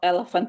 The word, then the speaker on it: elephant: Itu pada kata elephant itu kan ada P sama H ya. P sama H-nya itu dibacanya F. Oke, bukan V. Elephant. Lalu ada T-nya, terus diucapkan dengan jelas T-nya. Elephant.